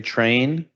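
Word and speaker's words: Tran: I Train. J E F R E Y T R A N. Like Choo Choo.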